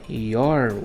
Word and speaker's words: you're: Agora, you're welcome, que a pronúncia aí fica your, esse you, apóstrofo RE, you are, a pronúncia fica your, abreviado, lembra?